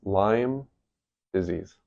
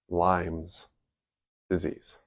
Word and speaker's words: Lyme disease: It's Lyme disease. It is not Lime's disease. Lime does not own the disease. It's not multiple limes and it is spelled with a Y, not an I. Cuz it's not a citrus fruit.